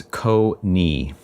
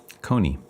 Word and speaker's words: Konyi: The name is Konyi. Konyi. Had every pronunciation you can imagine from it. But yeah, that's how I would prefer to say it, or how I've always said it, and my family says it.